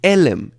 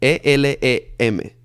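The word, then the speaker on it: עלם: Se dice elem, E-L-E-M, elem, ¿ok?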